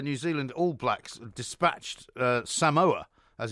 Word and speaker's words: Samoa: I mean, have you seen the way that the New Zealand All Blacks dispatched Samoa, as it's now pronounced in the correct form?